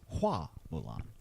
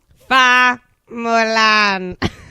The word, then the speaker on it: Hua Mulan: I think her name in Chinese, like from the original tale, is pronounced Hua Mulan. Fa Mulan.